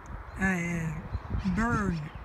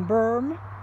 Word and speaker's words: berm: Berm, eu acho que é M, né? Porque eu só sei, só escuto o povo pronunciar, mas a escrita mesmo eu nunca vi em lugar nenhum. Então, berm, a pronúncia parece o Burm, mas é Berm, significa a colina ou